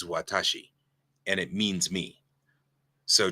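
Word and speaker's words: 私: its idiographic mode and this character just reads Watashi and it means me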